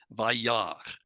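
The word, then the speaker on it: וַיַּרְא: here with the Aleph, an Aleph at the end of a word often quiesces, and that's what happens here, Vayar. And so we don't pronounce the Aleph. It's just written still, but it's not pronounced.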